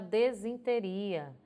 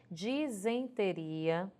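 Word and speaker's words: disenteria: o i dizem teria ea pronúncia dela também é diferente porque as pessoas costumam dizer estou com uma desinteria pronúncia errada realmente a escrita também a do correto é dizem teria grafado com é empecilho pesar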